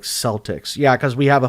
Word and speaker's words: Celtic: In the US, we typically pronounce it like Celtics. Yeah, cuz we have a foot we have a basketball team called the Celtics, but it's but it's pronounced Celtic.